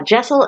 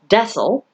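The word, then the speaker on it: deosil: now uh before we get into it uh jaisal is spelled d-e-o-s-i-l however uh the books on my shelf tell me that it is not pronounced decil but it is pronounced jaisal for something to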